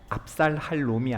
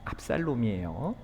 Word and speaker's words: 압살롬: 발음을 조심해야죠. 압살할 놈이 아닙니다.이 압살롬이에요.